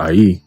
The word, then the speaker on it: Ai: And when you go into that word AI, okay, or I which is pronounced, but we just go go with AI, it says here, heap of ruins, right?